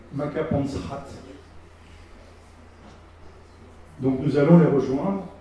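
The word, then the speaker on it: Makapansgat: dans la vallée de maapansgat par qu'on prononce makapansrat donc nous allons les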